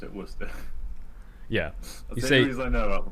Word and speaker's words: Worcester: college uh was uh we'd say worcester it's spelled w o yeah yeah yeah so it's i honestly forgot the r was even in it um so like